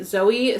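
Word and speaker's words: Zoje: by our getaway by zoe stage do you want to read the blurb inside the j is silent i messed that up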